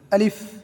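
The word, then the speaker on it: alif: আলিফ উপরের দাঁতের আগা নিচের ঠোঁটের পেটের সাথে লাগবে, এক ঠোঁট আরেক ঠোঁটের সাথে লাগবে না। আলিফ।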